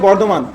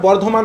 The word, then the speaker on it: বর্ধমান: ফরিদপুর জায়গাটা কোথায় দেখ, বলছে বর্ধমান। এই যে বানানটা লেখা আছে এটা বর্ধমান আমরা বাংলায় বলি, ঠিক আছে? ইংলিশে বুর্ধমান বলে, বাট বাংলাতে বর্ধমান বলি আমরা।